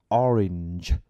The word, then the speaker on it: orange: hay ở chỗ là có rất nhiều từ tiếng Anh cũng có cái âm g e như thế này ví dụ như từ quả cam đúng không Thì mình phải các bạn Toàn Phát âm là orin orin nếu bạn phát âm là là health thì chắc chắn các bạn cũng sẽ phát âm được là orange orange đúng không Rồi thì